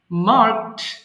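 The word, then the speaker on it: marked: দিলেও মার্কড চলে আসবে যদিও ডি আছে শেষে কিন্তু উচ্চারণটা টি এর মতো হবে ওকে সো নাউ প্লিজ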